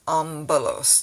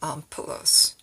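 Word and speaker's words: ἄμπελος: the word like that it'll be like an mb not mp but mb so you have ambalos not ompulos so that's a pronunciation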